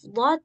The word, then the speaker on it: ض: Nah, satu lagi ada huruf dad yang kebanyakan orang ketika menyebutkan huruf dod itu lidahnya yang dari tepi pindah ke ujung sehingga suaranya bunyi d.